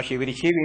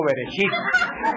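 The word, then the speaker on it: בראשית: No, Shibirichibi, no, Bereshit.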